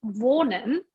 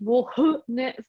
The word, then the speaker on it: wohne: Yeah, age means in this case nicht wohne, but it means like the O is long. Ich wohne in Kanazawa. ich wohne in Kanazawa. Ich wohne Ich in Kanazawa. Ich wohne in Reichenbach.